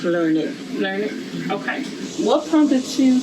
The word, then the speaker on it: Learned: Well, it's pronounced Learned.